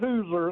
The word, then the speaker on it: Hooser: Yeah, it's Hooser. It's like a Hoosier without the I.